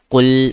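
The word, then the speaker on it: قُل: I'm saying al proper. L sound proper.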